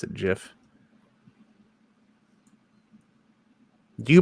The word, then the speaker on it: GIF: do you pronounce it gif you don't pronounce it gif do you peanut butter no the it's called a gif GIF right okay good if it was a gif it'd have a j right and it would